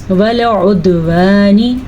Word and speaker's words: وَالْعُدْوَانِ: والعدوانی، دال کے اوپر قلقلہ ہو رہا ہے اور عین کے تلفظ کا خاص خیال رکھنا ہے، نون سے نی کو بھی لمبا نہیں کرنا. والعدوانی.